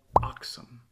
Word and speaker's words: Aksum: you probably never heard of it it's called oxom a KS n sometimes it's spelled ax M it existed in what is